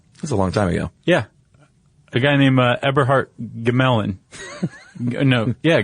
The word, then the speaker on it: Gmelin: A guy named Eberhardt Gmelin. No. Yeah, Gmelin. Yeah. I think it's g m e l i n. I would go silent g on that.